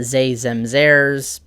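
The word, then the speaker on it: ze: they they're theirs uh zay spelled with an x or a z i made a note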